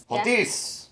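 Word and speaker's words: hontes: I prefer the UK version with the sound H in it because H makes a H sound. Yeah. So I like this being pronounced as H. H. H-O-N-T-E-S. Hontis.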